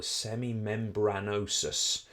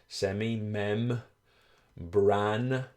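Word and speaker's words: semimembranosus: have awareness of, is what we call the semimebranosis. Semimebranosis. Semimebranosis. Okay. So, the semimebbranosis or semimebanosis is what most people pronounce it as.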